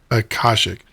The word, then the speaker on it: Akashic: Akashic.